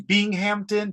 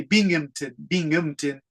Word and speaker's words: Binghamton: Americans say Binghamton, but the British say Binghamton. So this is a hard one to describe. Binghamton News. But my British friends always tell me Americans say that word wrong, like the city of Birmingham, Alabama. Britain says Birmingham, Birmingham. If you have British teachers and Australian teachers, they'll laugh if you pronounce it Binghamton or something like that.